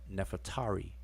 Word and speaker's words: Nefertari: And we have Neferet Iri, but we pronounce that Nefertari. But her name is actually 2 words, Neferet and Iri.